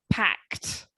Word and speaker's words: packed: word pact hacked yeah it has a t sound at the end packed excellent all right good